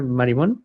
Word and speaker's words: Marimón: de Joan Marimón por, sí lo estoy pronunciando así, ¿verdad? Marimón, ¿sí está bien? Sí, Está ¿verdad? bien, sí, está bien, está perfecto.